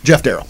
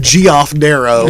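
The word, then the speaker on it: Geof Darrow: you go I remember there was somebody who's come in the shop that always pronounced his name wrong and I couldn't remember what it was and he used to call him GI off daro and I never corrected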